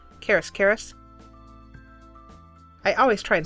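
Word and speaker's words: Karas: But the reason why I like these by Karis so much, and what I'm saying is K-A-R-A-S, K-A-R-A-S, Karis.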